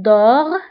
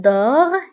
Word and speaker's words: dort: Il، elle dort، la terminaison T لكنها لا تنطق.